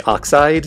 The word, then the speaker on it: Oxyd: This is a free open source and an enhanced port / remake of the Oxide series of games. That's spelled OXYD.